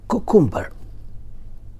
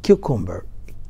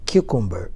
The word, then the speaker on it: cucumber: All right, next one, cucumber. That's how we pronounce it, right? No, it's cucumber, cucumber. The first is, even though the alphabets C and U, we should pronounce it like Q, cucumber.